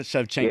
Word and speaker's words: Shevchenko: Valentina Shevchenko.